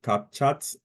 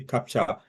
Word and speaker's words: CAPTCHA: So, and yeah, you actually pronounce it wrongly. I think you call it CapChat or something like that. So maybe I got it wrong. It's actually CAPTCHA. So it's not chat anyway.